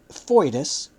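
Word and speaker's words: foedus: friendship but not a treaty of Alliance a fois spelled f o e d us as Judea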